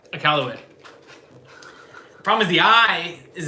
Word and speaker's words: Iqaluit: Iqaluit. Say it again. Iqaluit. Iqaluit. Oh, she got it perfectly right. Iqaluit.